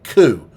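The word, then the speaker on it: 九: You pronounce the 9 in Japanese this way, ku.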